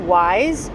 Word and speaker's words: YSE: And um the brand is actually pronounced Wise Y.